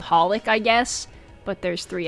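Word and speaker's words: xxxHolic: Uh, which I guess you're not supposed to pronounce the X in it much like Hunter X Hunter. It's supposed to be it's just called Hollic, I guess, but there's three X.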